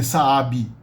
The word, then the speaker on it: Saab: a b um like let's say um Saab the old Swedish car makers s-a-a-b people would say Sabi to the end bookie